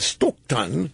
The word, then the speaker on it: Stockton: never forgot that so I've always pronounced it stokan Sacramento stokan typical NPR pronunciation school anyway Clinton's out there